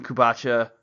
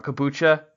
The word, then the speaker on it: kombucha: I was really excited to hear your example with Kombucha. I said that wrong. Kombucha.